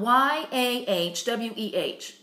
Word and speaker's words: Yahweh: It's spelled Y-A-H-W-E-H.